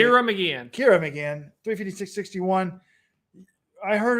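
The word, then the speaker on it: Ciara Mageean: Sierra McGeehan of Ireland, how do you say Kira McGeehan.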